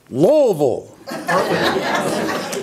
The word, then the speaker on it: Louisville: I'll get this right Louisville many people think there are three or four syllables in Louisville there are not there are two wool and wool and